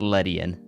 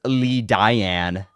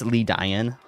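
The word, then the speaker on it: Ledian: Let pronounce it Letian. Are you about to tell me? Yo, that's wrong. It's Le Diane. Um, you're pronouncing it wrong. It's Lee Dian Leon.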